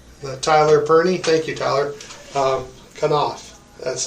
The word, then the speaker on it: Knauf: Knauf.